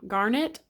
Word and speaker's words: garnet: It is garnet. My brain does not know. I think it's garnet, right?